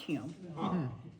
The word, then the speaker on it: Hume: h o m but it's still pronounced Hume but when they came over here because whenever they spelled it h o m people would say home and that's not what it was so they changed the spelling to hu so it happened a